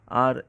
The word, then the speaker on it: a: এ অনেকে উচ্চারণ করে, যদি আর্টিকেল হিসেবে এ ব্যবহার করা হয়, তার সঠিক উচ্চারণটা হচ্ছে আ।